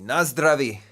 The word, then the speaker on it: na zdraví: Na zdraví.